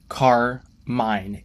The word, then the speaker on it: Carmine: be possible um anyways I explained my struggles with reading the name and we decided to make that the actual pronunciation and I think it's great now we don't have two car and even better like I said earlier it gave me an idea for the design car mine a literal car thief